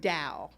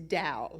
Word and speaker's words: Tao: to my earlier memories how come t-a-o sounds like d-o-w well i'm not chinese i cannot answer that question it sounds like dao the correct way to say it is dao like the dow jones industrial average i know it's the